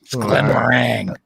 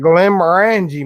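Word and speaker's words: Glenmorangie: pronounced oh i will glenn meringue it's i asked him how it's pronounced it's not how it's pronounced he's got glenn maranji mate oh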